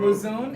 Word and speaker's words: Mouzoun: Mouzoun is the right pronunciation of my name.